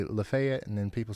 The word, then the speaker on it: Lafayette: and Mon County's uh Lefayet. Lefet. God darn it. You guys know what I'm talking about. Well, I say Lafayette and everybody says it's Lefay. I say Lefayet and then people say it's Lefet.